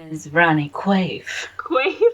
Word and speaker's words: Quaife: Meets Ronnie Quaife? Quaife. My name is Ronnie Quaife. Quaife? It's like a weird way of saying queef. A science. I was thinking quaff.